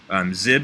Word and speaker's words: XIB: actually this main menu XIB zib is how it's often pronounced this is kind of